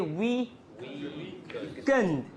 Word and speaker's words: weekend: So you say weekend, weekend, okay? In a normal word, single word, if you have a stressed syllable, unstressed syllables becomes a, right? Weekend. But in a compound noun, the second, in a compound noun or noun compounds, it's always the first one that gets stress.